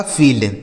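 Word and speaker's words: field: तो दोस्तों अगर किसी भी शब्द में आई के साथ ई लिखा हो, क्या लिखा गया हो मेरे दोस्त, आई के साथ अगर ई लिखा होता है तो इस आई और ई का उच्चारण दोस्तों बड़ी ई की मात्रा हो जाता है।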